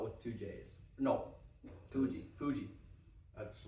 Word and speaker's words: Fuji: Green wasabi hot sauce from Mount Fiji. Why is it spelled with two J's? No, Fuji.